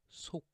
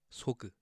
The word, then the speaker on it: 속: final consonant underneath, and that becomes 속, not 속, 소그, okay? It's 속. Make sure you drop the G sound at the end.